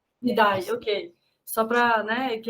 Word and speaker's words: Ndiaye: Só para contextualizar, vocês estão falando, né, do ministro da Educação, o Pape, eu não sei pronunciar, Ndiaye? Ndiaye, ok.